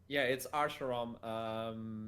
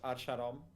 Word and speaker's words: Archarom: It's Archarom. In Portugal, we call it Archarom. There's a rolling on the R.